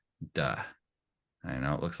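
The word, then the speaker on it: 德: Excel but do not rule this is called Dark duh I know it looks like t or tay but it's pronounced da and this is the same da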